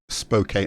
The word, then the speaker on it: Spokane: It's pronounced Spokane. Oh, wonderful. So I did okay then.